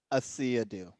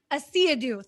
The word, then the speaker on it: Asiedu: So Asiedu, please, how's your last name pronounced? Asiedu. Asiedu, thank Yeah, you.